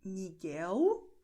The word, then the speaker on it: Miguel: E, continuando, veja que a letra L no fim da palavra ou a letra L no fim da sílaba antes de consoante tem o som de U. Por isso, nós pronunciamos Miguel, é a letra L